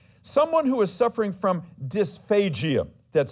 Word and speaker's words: dysphagia: in body systems someone who is suffering from dysphagia that's spelled d-y-s p-h-a-g-i-a dysphagia someone suffering from dysphagia